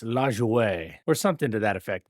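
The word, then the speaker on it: Lajoie: You might have heard it pronounced as Lejoy, but it's LJO or something to that effect.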